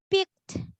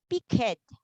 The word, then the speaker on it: picked: why when we pronounce picked okay example okay this one okay it ends um it ends with kitty okay so you will pronounce this not pick it you will pronounce this as picked letter 2 is the